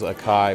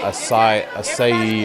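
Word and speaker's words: açaí: do you pronounce that i thought it was a kai but apparently it's like a acai or something like that you can get all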